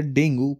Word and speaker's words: dengue: है वो है fever डेंगू pronounce S डेंगी ठीक है इसको डेंगी